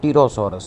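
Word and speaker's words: Pterosaurus: अच्छा अगली बात करते हैं टिरोसोरस की। ग्रीक वर्ड टरोस का मतलब होता है विंग्स। पीस का साइलेंट है टी से इसको पढ़ना है।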